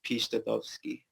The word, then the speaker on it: Piszczatowski: do you pronounce it to pronounce in like a polish accent it's peachtekovsky oh so the very